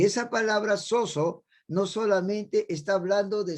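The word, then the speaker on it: σώζω: palabra salvación, que es una palabra griega que se escribe con S-O-Z-O, soso. Y esa palabra soso no solamente está hablando de salvación, de perdón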